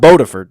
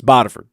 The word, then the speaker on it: Bodiford: It's not Bodiford, it's Bodiford.